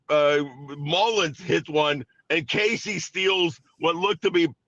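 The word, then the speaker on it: Caissie: Uh, is it Casey or Cassie? I can't remember how they pronounce it. Casey, Casey. Um, hits a bribe to left center.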